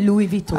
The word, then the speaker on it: Louis Vuitton: So, parang ngongo yan, Louis Vuitton. That's how you pronounce it.